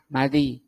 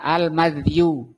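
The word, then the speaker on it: المذي: Nah, al-madhi itu kata beliau bi fathil mim, dengan di fathah mimnya, madhi. Wa sukuni dzal, dan sukun dzalnya disukun, berarti bacanya al-madhiyu.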